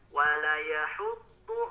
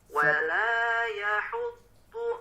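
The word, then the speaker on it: ولا يحض: Nah, itu lebih dipanjangkan lagi Pak, membacanya sepanjang 2 harokat. Nah, tadi mohon maaf Bapak bacanya masih terlalu pendek. Terdengarnya wala yahuddu. Nah, tidak dipanjangkan. Lebih dipanjangkan lagi Pak menjadi 2 harokat.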